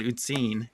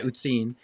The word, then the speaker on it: Uzin: Louisville Kentucky Jared with usen did I pronounce that right uh the Germans pronounce it uten so yeah uten and uh I'm out